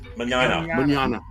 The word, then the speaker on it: Mignogna: Mignogna.